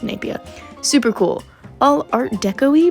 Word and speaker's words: Napier: It looks like Napier, but it's pronounced Napier.